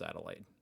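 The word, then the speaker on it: Adelaide: University of adelade adelade I know it's pronounced adelade I don't know why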